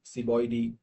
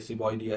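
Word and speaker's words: Ceboidea: So as of pronunciation, here Anthropoidy, Ciboidy, so these are the Latin pronunciation. अब कई English pronunciation में ये एंथ्रोपॉइडिया है, ये सिबॉइडिया है, तो दोनों ही ठीक है, बट I usually stick with the Latin one.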